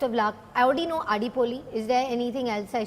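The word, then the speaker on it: അടിപൊളി: Adipoli. Oh, Did I say thank that you. right? Did I say it right? Adipoli. Adipoli is right.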